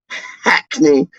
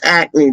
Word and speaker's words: Hackney: pronounce the h star you don't pronounce the h only posh peach would pronounce the h dark posh peach would be like oh hackney no bridget it ain't hackney it's acne dark and it's like